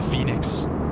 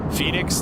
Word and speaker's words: Fenix: Phoenix, the way they spell it is just F-E-N-I-X.